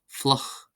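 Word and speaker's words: fliuch: IU is pronounced as a U, so we have fluch, fluch, fluch, fluch, meaning wet.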